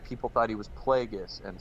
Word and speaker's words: Plagueis: people thought he was plagueis and some morons pronounce it plagias it's plagueis bro but anyway um all